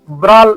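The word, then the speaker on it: brawl: Today in the competition ब्राल इसमें W silent है ब्रॉल ब्राल बोला जाता है ब्रॉल मीन्स फाइटिंग करल ओके ये कोरल बोला जाता है।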